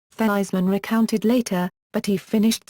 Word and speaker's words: Theismann: Notre Dame publicity man Roger Valdiserri insisted that he changed the pronunciation of his name to rhyme with Heisman, Theismann recounted later, but he finished second to Jim Plunkett of Stanford University.